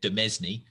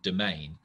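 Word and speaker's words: demesne: got a word that looks like it should be said domesny but is actually pronounced domain and this means land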